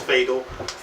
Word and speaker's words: PH8L: It's pronounced Fatal.